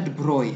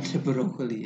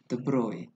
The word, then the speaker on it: de Broglie: Bacanya De Broglie bukan De Broglie ya. De Broglie.